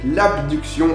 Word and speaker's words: abduction: qui est l'adduction donc il y a une seule lettre de différence donc il faut veiller à bien prononcer le mot pour savoir de quoi on parle donc l'abduction avec un B c'est amené vers l'extérieur et l'adduction avec deux dés c'est ramener le membre